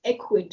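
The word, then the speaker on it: Ecwid: You know, when I saw the name of the app, it's Equid. So it's spelled as E-C-W-I-D.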